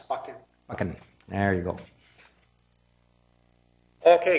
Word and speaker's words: Buchan: Okay, our next speaker is Buchan, and he will correct my pronunciation, and he's at Unit 305 at 1110 Howie. Yeah, it's Buchan.